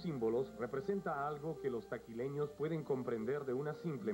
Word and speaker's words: Taquile: su apellido como herencia taquila bajo el efecto de la pronunciación local se convirtió en taquile y así se llama